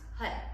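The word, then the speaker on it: Har: learning it is pronounced hud and um roll that tongue like flick the tongue on the roof your mouth and you'll see different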